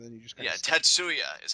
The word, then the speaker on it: Tatsuya: first name and then you just kind Yeah, Tatsuya is how you pronounce it, correct?